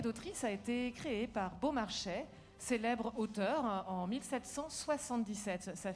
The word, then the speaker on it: Beaumarchais: En tout cas, Maestra Capella, je vois que vous prononcez exactement comme il se doit Beaumarchais. Oui, Beaumarchais, non, parce que c'est formidable, Beaumarchais.